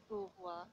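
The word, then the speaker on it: قوة: Kuwatan is the word, but kuwa is the pronunciation of this word.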